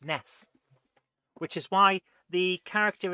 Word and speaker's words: NES: any S should be pronounced Ness, which is why the character in I think it's the Mother series, but it might be something else, is called Ness.